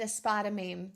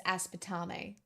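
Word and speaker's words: aspartame: I said a spider meme. That's not how you say it. It's aspetame.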